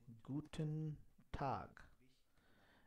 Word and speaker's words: Guten Tag: Rather, they say Guten Tag. And how this is pronounced? They pronounce this with Gu ten Tag. Guten Tag.